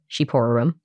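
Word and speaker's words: shqiperorum: I would have never guessed that that was pronounced sheep to start yeah I had to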